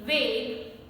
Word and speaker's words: vague: So in order to pronounce it as G, French put a silent U between G and E.